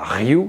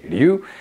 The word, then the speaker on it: ryu: du karaté parce que le r se dit l au Japon comme lu d'accord c'est pas Ryu c'est lu mais voilà essayons de